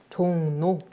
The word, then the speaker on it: 종로: 종로 마찬가지로 받침 이응 뒤에 오늘 리을은 니은으로 발음한다. 종로. 종로.